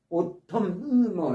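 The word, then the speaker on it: autumn: 과거에는이 단어가 영국에서도 쓰였지만 영국에 영국에서는 요즘에는 오텀이라는 단어 오텀 N이 발음이 안 됩니다. 오톰 이렇게 N이 발음이 안 돼요.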